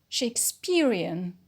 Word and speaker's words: Shakespearean: Shakespearean, an adjective. The stress is on the penult, peer, because we have the stress shifting suffix ian, which is under the line rule.